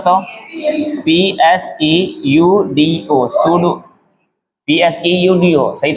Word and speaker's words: pseudo: सूडो force का spelling क्या होता है बताओ? PSEUDO, सूडो, PSEUDO, सही तो सूडो फोर्स।